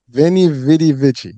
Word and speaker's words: Veni Vidi Vici: So Veni Vidi Vici.